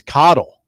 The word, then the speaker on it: Coddle: horrible to me well coddle sounds good though pork pork sausage back bacon and potato that sounds that sounds really good yeah it does yeah it's coddle remember that coddle yeah remember coddle coddle two ds cottle yes